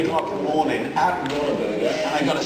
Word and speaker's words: Whataburger: It's like I didn't know it was called What a Burger. Americans say Whataburger. It's like a water burger.